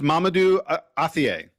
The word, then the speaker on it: Mamadou Athie: not that it's not that tough it's it's Mamadou Athie Okay yes so so the Mr.